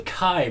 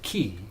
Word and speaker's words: Chi: they can create the chi bleh well this is so if I mean the Greek letter that looks like an X and they pronounce it ki because that's kind of